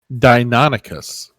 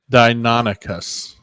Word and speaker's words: Deinonychus: I'm looking up how to pronounce this. Deinonychus. Dynamo what? Deinonychus.